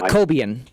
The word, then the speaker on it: Cobian: On your last program, you mentioned a backup type of Cobian or Cobine. Yeah, Cobian. Cobian. Yes. Now, how do you spell that?